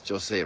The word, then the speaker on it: Jose: Bishop Jose, right? Yeah. That's how you pronounce it properly.